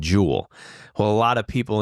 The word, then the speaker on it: Jewel: up right out City we add an S to Jewel so everybody knows jewel is Jewels right so it's just